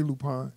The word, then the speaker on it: Lupin: fancy yeah you know just say lupine you know it's the